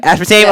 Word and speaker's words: aspartame: the seed oils, the fake sugars like the aspartame. I don't know how to pronounce it, but is that aspartame? Is that how you pronounce it? Aspartame? Aspartame. Yeah.